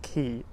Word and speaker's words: quay: I'm sure you know the word quay, right?